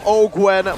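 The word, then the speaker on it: Owgwen: Ogwen going to be chunked by Iman right now,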